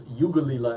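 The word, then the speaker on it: Yankalilla: The only reason I am giving this less than a 5 is because we had another Australian Chardonnay called Yankalila, or it was Yugalila as they say it, but it's spelled Yankalila, and it was a 5 for me off the charts.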